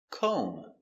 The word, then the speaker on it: comb: Combing. No b. She's combing her hair. Comb. k o Make a long o. Co. m comb comb Do you have a comb?